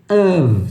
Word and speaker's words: of: Aqui é of. Você faz o e você faz um som de V, tá?